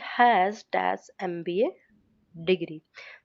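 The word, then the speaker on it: MBA: Same इस case में भी एमबी वाले में भी जब एमबी बोलते एमबी बोलते हैं।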